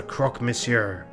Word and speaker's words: croque monsieur: referred to as the Croque Monsieur. Monsieur. Like the sandwich? What? How do you say that? Croque Monsieur? Yeah, croque monsieur.